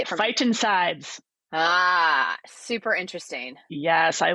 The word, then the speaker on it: phytoncides: Finticides? Say it for me. Phytoncides.